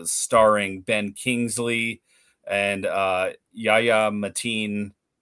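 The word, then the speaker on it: Yahya Abdul-Mateen: um 2026, uh starring Ben Kingsley and uh Yaya Matin. How do you say it? Abdul Matin. Yaya Abdul Matin.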